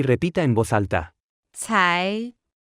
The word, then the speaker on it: 才: 才才才才才才才 Se pronuncia con el segundo tono.